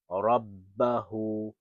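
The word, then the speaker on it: رَبَّهُ: So ha dhammahu, ha dhammahu, rabbahu, rabbahu, rabbahu. Keep in mind of the shadda here, because if there was no shadda, it would just be rabbahu. But it's rabbahu.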